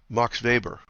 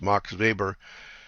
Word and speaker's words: Max Weber: the father of sociology MOX vber that's spelled ma ax we b r looks like Max Weber in German it's Marx vber he was a sociologist